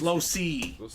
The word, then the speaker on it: Losi: in the AFC West I did get that name pronunciation from him it's not La yeah it's Losi he said it in